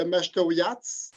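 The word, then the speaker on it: Mashteuiatsh: Prononcer la communauté. Alors, la communauté, c'est la communauté de Maastrichtière.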